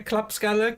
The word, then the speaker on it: klappskalle: I do really like the Swedish word klappskalle, which means dumbass. Actually, it means clap head. Well, clap skull. As you guys can hear, klappskalle, clap skull.